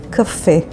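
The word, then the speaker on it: קפה: The next word is the word kafe, which means coffee, and it is spelled with kuf, pei, hey, kafe.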